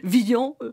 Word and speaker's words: Villon: un grand poète donc il faut prononcer vian j'en mettrais ma main au feu nous allons maintenant entendre